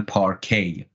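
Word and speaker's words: parquet: می نیستن نوشته میشه پارکت انگلیسی این رو میخونن پارکی تی آخر رو نمیخونن فکر می‌کنم کلمه باید فرانسوی باشه اوم با همون تلفظ میگن عرضم به حضورتون که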